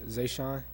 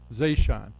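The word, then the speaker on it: Zeeshan: Want to tell me how to pronounce that properly? Uh, is Zashan. Zashan. Yeah.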